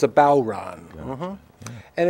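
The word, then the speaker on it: bodhrán: uh like oh actually bow like the bow of a ship and Ron like somebody's name so it's bowon so it's a bow Ron mhm and it's a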